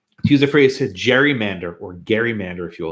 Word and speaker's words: gerrymander: So it's hard to to use the phrase to gerrymander or gerrymander, if you will. It's actually it's with a G, hard G. It's like GIF, whatever, right?